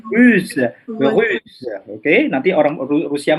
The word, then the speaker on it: russe: Jadi kemarin kita juga belajar ada prononciation identique, c'est belge. Monsieur tunjukkan lagi yang mana? Belge. Belge. Rose. Rosé. C'est pas rusé, russe, russe.